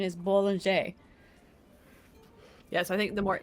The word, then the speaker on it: Bollinger: Because they usually do drop the R sound at the end, the hard R at the end.